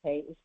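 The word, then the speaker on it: paix: PX pay peace PS in French p a i x pronounced pay is yes yes and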